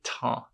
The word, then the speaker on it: trains: Porque le train não é les trains. Le train, les trains. Perceba aqui, train e train a gente pronuncia exatamente igual, porque o S ele não é pronunciado.